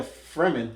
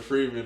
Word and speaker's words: Fremen: How'd you pronounce it? The Fremen, right? The Fremen, yeah. You said the Freeman.